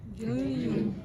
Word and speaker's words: jejunum: It rhymes with bajunum. Jejunum.